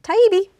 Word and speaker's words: Taibbi: Taibbi.